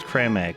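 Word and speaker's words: Creme Egg: replied that someone that cream egg is actually pronounced cram egg no and i can't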